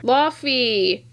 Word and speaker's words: Laufey: still really good so he's gonna go there Laufey yes that's how you pronounce his name the frost giant piece from